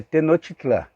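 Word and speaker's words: Tenochtitlan: nome bem interessante tá é tenochtitlán mais ou menos assim que se pronuncia também tinha organização social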